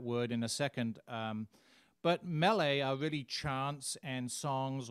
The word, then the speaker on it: mele: you'll see the word melee a lot it's pronounced melee kalikimaka it's a wine themed christmas song it